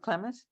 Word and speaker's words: Klamath: me in your book was, how do you pronounce the Klamath? Mm-hmm. Is it Klamath?